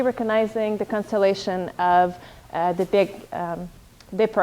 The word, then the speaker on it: Big Dipper: I always have to think, because in French it kind of pronounced it a bit like diaper. So I said that in class 1, the constellation of the Big Diapers.